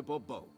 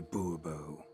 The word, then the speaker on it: Bourbeau: yet, as Monsieur de Bobo. Oh, it's Monsieur de Bobo. I want money. Fine. Monsieur de Bourbeau. The emphasis falls on the last syllable.